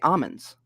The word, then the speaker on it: almonds: ago or something and the people who are in the almond business don't pronounce the l you just say almonds almonds just so you